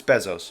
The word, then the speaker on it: Bezos: It's Bezos, but we pronounce it Bozo.